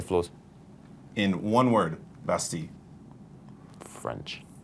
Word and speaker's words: Bastille: If someone's never heard Bastille before, I'm going to pronounce it in French.